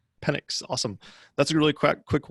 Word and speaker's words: Penix: Just throw in there the subject line, Henry, how do you pronounce that? Like Pentix? Is it Penix? Penix.